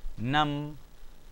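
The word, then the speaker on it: نم: Fatha and the sukoon. That gives you nam.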